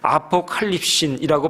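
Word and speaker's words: ἀποκάλυψις: 나타나심을 기다림 이라라고 말씀합니다이 나타나심이라고 하는 헬란 말로는 아포칼립이라고 발음을 합니다이 말의 원래 뜻은 뚜껑을 열어 제기다 얘기입니다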